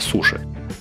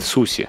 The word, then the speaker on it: суси: в жизни пробовали, это суши. Кстати, правильно говорить суси, равно как и сасими, а не сашими. Шипящие закрепились после того, как это национальное блюдо стало популярным на Западе.